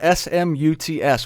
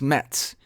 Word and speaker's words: Smuts: His name is spelled S-M-U-T-S, which I think is hilarious. It's pronounced Smets, I think. It's Danish. Not real clear on the pronunciation, except I like to say Smuts.